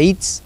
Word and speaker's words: Ihitz: Mi apellido se pronuncia Itz, derecho, sin la H, y es de origen vasco-francés.